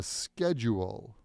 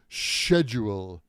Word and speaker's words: schedule: Please check the schedule. Like sky. Schedule. Skip. Schedule. I know in British English they say schedule, like shave or the shed in the backyard.